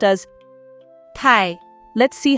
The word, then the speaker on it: 太: Tai, tai, tai, tai, tai. This character is the 4th tone, so it should be tai.